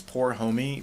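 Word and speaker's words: pour homme: there the stuff that's up there now it's poor homie meaning four men in french that's cool yeah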